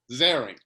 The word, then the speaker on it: Zehring: again we have jones is it zeroing am i pronouncing that correctly joan zaring sarah well jones with